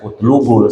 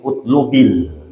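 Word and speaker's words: اطلبِ: gitu itu utlub ya ada orang nulis utlub bacanya utlubul Salah itu ya karena kalau utlub kalau mau diharkatin utlubil Ilma karena itu apa ee fi'il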